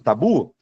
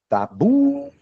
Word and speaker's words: tabu: Já na palavra tabu eu não tenho acento, mas quando eu chamo tabu, tabu, o bu segurou. Então bu é a minha sílaba tônica, mesmo que não tenha acento.